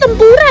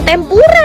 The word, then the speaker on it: tempura: Bacanya tuh tempura ya, bukan tempura.